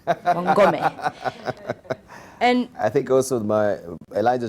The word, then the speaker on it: Wangome: I'll begin by introducing myself because a lot of people get my name wrong. My last name, Wangome. And Wamlambez, Wangome. Yeah. Wangome. Wangome.